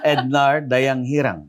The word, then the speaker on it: Ednar: case i said it wrong yeah i am ednard okay did i did i say it yeah